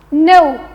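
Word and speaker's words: know: No. No. Karena bahasa Inggrisnya kata mengetahui ini sebenarnya K-nya di silent. Jadi bacanya sama dengan kata tidak.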